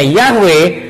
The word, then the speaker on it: Yahweh: Jadi teman-teman, mengenai Yod He Waw He dibacanya Yahweh, itu tentunya karena kakak kita atau orang-orang Ibrani, orang-orang Yahudi tahu gimana cara bacanya.